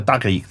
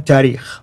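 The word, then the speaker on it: تاريخ: And then the last genre, the tarikh. How do you say it again? Tarikh.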